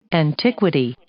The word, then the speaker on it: antiquity: Antiquity. 발음이 약간 어렵죠. antiquity, 강세가 앞에 안 있는 게 조금 antiquity, 어려워요.